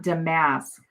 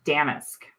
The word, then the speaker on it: damask: Oh, and somebody told me how to say not damasque, but damaskque, right? cuz after we got done with my with my last live, you guys were all saying, "No, it's pronounced like this and I'm like, I can't say it." So, I went and looked it up on my computer and it's damaskque. No, damaskque.